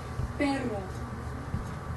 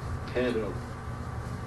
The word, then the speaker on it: perro: It's pronounced... Let's change character. Come on, try it with me. Perro. Perro.